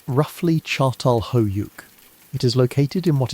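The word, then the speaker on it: Çatalhöyük: One of the earliest and most remarkable examples of this new way of living is a place called Atalhick, pronounced roughly Chartal Hoyuk.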